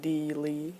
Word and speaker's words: Deelee: Vale so that's her so the next character is one of my favorites as you can probably tell and it's Dealey that's pronounced Dealey and he is in an inmate of the